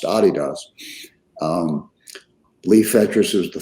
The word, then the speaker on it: adidas: founded adidas which is we mispronounced that american call it adidas that's really pronounced adidas um lee fetchers was